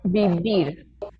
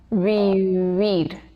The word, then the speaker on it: vivir: Esa V no se va a pronunciar de manera fuerte. No vamos a decir, por ejemplo, vivir. Esa V se pronuncia de manera mucho más suave y suena como vivir.